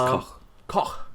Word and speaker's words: Koch: I've been calling it Koch all night. Koch. It's Koch. Koch. Okay, is that how you say it? Yeah. Great. It's a German name.